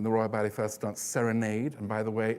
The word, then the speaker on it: Serenade: When the Royal Ballet first danced Serenade, and by the way, it's pronounced Serenade according to Balanchine, not Serenade.